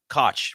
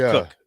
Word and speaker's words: Koch: name Sam Cooke yeah it looks like Koch but it's cooked yeah so um Sam